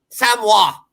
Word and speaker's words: Samoa: Samoa. Say it correctly. Samoa.